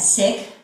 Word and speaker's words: Sikhism: of the Sikh religion Sikhism I've been told that you pronounce that sick so whether it's secret sick um somehow it flows that or if I say Seek so please stay with